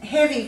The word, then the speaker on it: heavy: sound at the end of a word and heavy comes from the word heave so we're changing